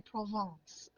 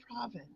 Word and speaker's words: Provence: So, so I said something about I didn't choose to say Provence. I chose to say province. And the lady behind the counter, I thought She came unglued. she really got she was up and down my spine about how I pronounced that word.